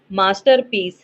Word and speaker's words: masterpiece: The word masterpiece has stress on. Options are option 1 the second syllable, second one the third syllable, third one the second and third syllable, fourth one the first syllable.